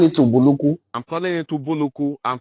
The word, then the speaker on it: Ubulu-Ukwu: But today the pronunciation is Ubulu-Ukwu.